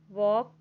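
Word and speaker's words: walk: डब्लू ए टीई आर वॉक वॉक में क्या यहां पर देखेंगे कि जो एल है वो साइलेंट है तो यहां जो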